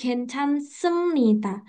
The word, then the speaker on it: 괜찮습니다: Jadi, 괜찮습니다. Ini ada B, Sam kok dibacanya M gitu. Nah, nanti ini ada 자, aturan lagi nih teman-teman. Kalau B ketemu N, B-nya jadi M gitu.